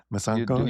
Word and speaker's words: Masankho: Yeah, how are we how are we doing with yours? Masankho is good. Masankho.